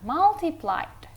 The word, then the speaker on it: multiplied: Terus multiplied, pakai A bacanya ya, U-nya dibaca A, multiplied. Kalau multiplied itu artinya dikali.